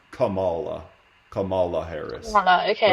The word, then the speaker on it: Kamala: so but it it's pronounced lately it is pronounced Kamala Cala harrisa okay right Camila would be more